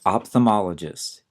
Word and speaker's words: ophthalmologist: First of all, notice that the spelling on this is a little tricky. There's a silent H after the P, OPH, and there's also an L that we often do not say, OPHTHALM. Usually we'll say ophthalmologist. You won't hear the L, ophthalmologist.